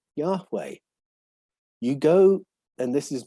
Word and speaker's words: Yahweh: make it pronounceable and the h's almost disappear yahweh you go and this